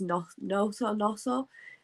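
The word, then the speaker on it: Gnonto: If we can keep, it's a silent G in it. Is it? I always call him Gnotto, and everybody tells me off for it. It's Noto.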